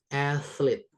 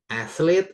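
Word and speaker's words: athlete: Athlet ada th. Iya tetap th ya. Athlet jadi se gitu se se gitu ya. Aslet artinya adalah atlet. Bacanya kayak kita bilang thank you ya kan than ya bukan than tapi than thank you ini pun gitu ya athlet itu atlet olahragawan kemudian ada ambassador.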